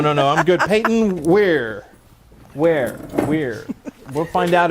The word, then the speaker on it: Ware: was thinking werewolf but no it's where as in Hardware he doesn't look like